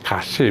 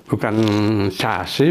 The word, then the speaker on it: casi: Bacanya kasih, Ingat, kalau C diikuti A, C berbunyi seperti K. Jadi kasih, bukan casi, bukan sasi, tapi kasih.